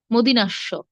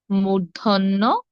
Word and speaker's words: মূর্ধন্য: মূর্ধন্য স দন্ত স আমরা আসলে অনেকেই দেখুন উচ্চারণ করে তালিব্যস মদিনাস্য এগুলো ভুল সঠিক কি হবে তালব্য তালব্য তালব্য স তারপর মূর্ধন্য স তারপর দন্ত স দন্ত স তালব্য স মূর্ধন্য স দন্ত স এভাবে হবে হ্যাঁ এখন তিনটি স